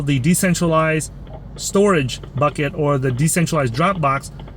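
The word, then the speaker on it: Storj: They're trying to build this decentralized storage uh based on the blockchain technology, right?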